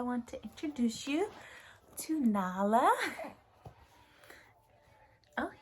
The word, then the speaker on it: Nala: All right, I want to introduce you to Nala. Oh, you know your name, Nala? Like the Lion King.